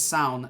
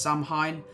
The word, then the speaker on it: Samhain: in a custom font, it says Sown, and you would think that it would be pronounced Samhain, Samhain, but it's actually a